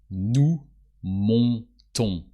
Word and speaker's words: montons: And the formal we is nous montons. So always on. O and S and the S is silent.